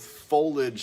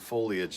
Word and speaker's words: foliage: in the dictionary and both folage and foliage are acceptable pronunciation so tomato tomato right